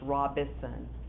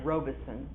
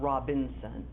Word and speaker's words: Robison: regular spc account uh there is no end in my last name it's robison or some people pronounce it robeson uh there's it is not robinson okay and if you